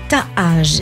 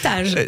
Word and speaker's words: Taaj: J'ai bien aimé votre manière de le prononcer. Oui, Taaj, je sais pas, il y a deux A. Oui, c'est la mélodie du, c'est la mélodie de la marque.